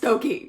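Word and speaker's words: Stokoe: yeah it's spelled staco but trust me it's pronounced stoy hello welcome to nerd town so this is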